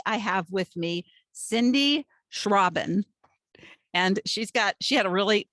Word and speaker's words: Schrauben: And today I have with me Cindy Schrauben. And she had a really great way of telling me how to say her name. It's like shushing the robin, which I guess since